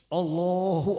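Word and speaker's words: الله: mengucapkan takbir itu satu Har Atul hamzahnya itu banyak yang enggak sadar Tuhan kita ini namanya hamzahnya maftuha jadi bukan Allah tapi Allah Allah bukan Allah tapi Allah jadi kalau orang Takbir Allahu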